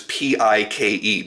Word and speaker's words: Paik: now and then with a few different dealers P-I-K-E, because that is actually how it's pronounced.